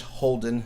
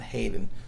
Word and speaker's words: Holden: mispronounced his name completely it's Judge Holden not Hayden so I apologize I